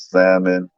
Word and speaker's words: salmon: a little piece of salmon but that's about it salmon salmon right how do you say it salmon i think you're supposed to say the l but we leave the l out so i'll be saying